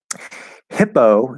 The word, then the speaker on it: hippo: Hippo, spelled with two P's, it's just one P sound. There's no pause, there's no stop, there's no anything. It's just a P. It's a soft P at the start of an unstressed syllable. Hippo. That's it. Just a regular soft P.